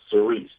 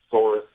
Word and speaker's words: Sorice: It's actually pronounced Sorice. Oh, thank you. I didn't know that. Sorice. Well, Okay. You know, it's funny because it's part of my mother's humor, but it's been mispronounced forever. I mean, people have pronounced it Sorice, Sorice, sour ice.